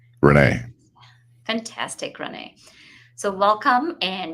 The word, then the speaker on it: Rene: and afternoon good morning so just to be sure am i pronouncing your name correctly perfectly actually renee fantastic renee so welcome